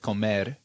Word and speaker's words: comer: kids tell me, like if I say the word comer, it's a very like drawn out pronunciation, but you'll hear the ra at the end of it is almost like a D sound.